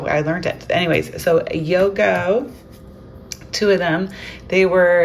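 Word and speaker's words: iögo: of my lunch videos that this is not pronounced Iogo. Which everyone around here pronounces it Iogo, but it's not. So, evidently we haven't seen the commercials. And it's Yogo.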